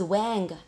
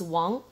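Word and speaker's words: 王: next one is Wong please do not pronounce his Wanga it's Wong by the service King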